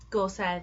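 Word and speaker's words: Gorsedd: do a video on gorset Stones Gore said um it's a Welsh word and it's spelled g o r s e double d double D in the world child alphabet is just one letter and it's oath the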